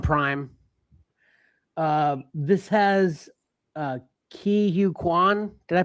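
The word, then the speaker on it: Ke Huy Quan: Uh this has uh Key Hugh Kuan. Did I pronounce that correctly, Pat?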